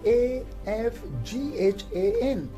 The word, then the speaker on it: Afghan: becomes silent for example we have a word afghan so afghan is spelled as a f g h a n so in afghan the later age is silent we have another word